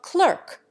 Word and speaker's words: clerk: A U sound, as everyone knows, gets into the American pronunciation of clerk, by analogy with insert. The English cling to a broad A sound by analogy with hearth. Even the latter, in the United States, is often pronounced to rhyme with dearth.